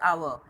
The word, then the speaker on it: hour: We also use an before words that begin with a silent H. Silent H like hour, an hour.